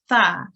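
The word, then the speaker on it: ث: it's pronounced is um we put our tongue at the tip of our teeth and slight air passes through our mouth and we just say Tha yeah so it's not a star which often gets confused with it's a Tha yeah well done that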